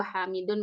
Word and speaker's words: Hamidun: Kenapa dun? Arab. Orang-orang Arab bahasa Arab Hamidun.